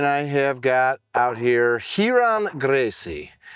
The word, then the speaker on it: Ryron: The R is silent? And you politely said, no, it's not silent.